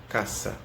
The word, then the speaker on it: casa: tem a diferença tá o esse sempre vai ser próxima pronunciado essa e como se fossem dois ésses tá então ele nunca vai ter só um dizer você vai escrever casa mas vai ler caça ah tá eu não